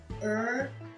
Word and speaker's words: urgent: Mais le T est prononcé, il n'est pas muet.